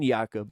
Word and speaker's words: Jacob: I call him Yakob point where finally proper biblical pronunciation Yakob.